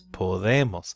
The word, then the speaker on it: podemos: But when you say podemos, when you use the nosotros form, it doesn't split because you're not emphasizing that second to last syllable on the O. The O is not the second to last syllable in that case. So you do not split it.